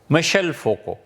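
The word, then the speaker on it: Michel Foucault: 1926 میں پیدا ہوا، مشل فوکو، فرانسیسی میں ان کا نام ہے، ایسے ہی پڑھتے ہیں۔ ہم نے پوچھا تھا فرانس میں تو انہوں نے یہی تلفظ کیا، ممکن ہے ہماری ادائیگی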